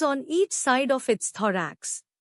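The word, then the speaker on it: thorax: थरेक्स नया लफ्ज थरेक्स इसको तोड़ते हैं दराक्ष जोर दो पर है टी एच ओ आर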